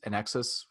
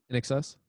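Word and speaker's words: INXS: this name uh nx nexus how you pronounce it i n x i n x s in excess and x s thank you success uh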